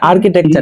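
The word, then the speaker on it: architecture: এটাই এটা এখানে কেন এই এই সিএইচ এর উচ্চারণ ক করলেন এখানে কথাটা হচ্ছে কি জানেন আমি এটাই বলতে চাইছি যে ডাক্তার রিলেটেড যত শব্দ আছে বুঝছেন তারপর হচ্ছে স্থাপত্য রিলেটেড যত শব্দ আছে এই শব্দগুলোর উচ্চারণ এগুলো রুলস না মানে তারা এর উচ্চারণ ক এর মতই করতো দেখেন একটা কথা রুলস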